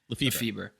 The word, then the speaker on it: Lefebvre: How do you pronounce his last name? Lefebvre.